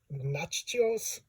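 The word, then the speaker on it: Natchios: Nachos? Yeah, it always sounds like nachos.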